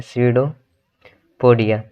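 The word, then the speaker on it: pseudopodia: ठीक है, इसमें का जो पी रहता है वो साइलेंट होता है, स्यूडोपोडिया।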